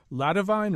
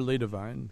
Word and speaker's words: La Divine: Is it La Divine or Le Divine? It's La Divine. La Divine. It's a French translation.